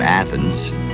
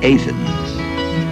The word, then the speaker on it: Athens: It's not Athens, it's Athens.